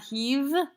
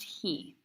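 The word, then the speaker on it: הִיא: Now make sure you say he and not heave, because that vav there is imagine that it's a yud. It's just sometimes it's written that way, but it's pronounced he.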